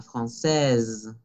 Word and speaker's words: française: Cuando decimos la française, es esa S que vibra, française. Ok, ese que les dije está entre dos vocales, se debe de pronunciar como una Z, française.